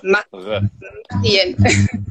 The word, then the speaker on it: Mariem: You pronounce quite well the I, R. In English, R. In French, R. Mariem.